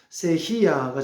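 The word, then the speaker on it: ceja: 또 이게 스페인으로 C 흔히 우리가 세하라 말합니다만 세히 아가 정확한 이제 발음이라고 합니다 어쨌든 플랫에서 세줄 즉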